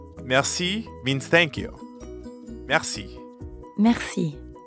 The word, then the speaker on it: merci: it merci that's right merci means thank you merci merci merci has a french r in the middle so we have to use our throat a bit mer merci merci you give it a